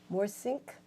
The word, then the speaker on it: Morssink: Morssink.